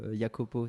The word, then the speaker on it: Jacopo: un mail donc de Jacopo yakopo ça se prononce Bertone qui m'a envoyé